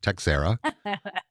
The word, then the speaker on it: Texiera: That's spelled tex ie a but pronounced texera.